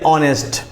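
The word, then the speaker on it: honest: आवर को देख लिया अब देख लीजिए ऑनेस्ट तो ऑनेस्ट में भी क्या है एओ एन ई एस टी ऑनेस्ट इसको भी हमने देख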